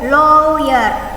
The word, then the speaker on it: lawyer: Tulisannya lawyer, bacanya lawyer. A-nya diganti O, lawyer.